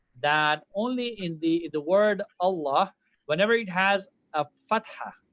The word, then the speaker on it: Allah: So whenever it has a kasra, it is pronounced the way it should be, like lightly. But the word Allah, if it has a fatha or dhamma before it, it's an exception only for the word of Allah, not for all the lambs.